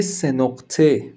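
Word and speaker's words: سه‌نقطه: Nous l'appelons également C sénorte, afin de ne pas être confondu avec d'autres lettres ayant un son similaire.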